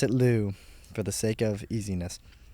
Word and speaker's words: Liu: Also, for anyone wondering, Lou is spelled L-I-U in this story, like Alyssa Liu's last name. So it could also be pronounced Liu. It's But we will pronounce it Lou, for the sake of easiness.